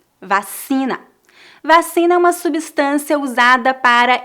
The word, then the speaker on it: vacina: coronavírus número três vacina lembre-se que a letra c é pronunciada como é se diante das vogais e vacina vacina uma substância usada